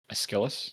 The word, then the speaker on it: Aeschylus: To cite Asiphiles, I always forget how to pronounce this name. Apologies. Aeschylus? My Greek is awful, so Yeah, close enough. Aeschylus, yeah.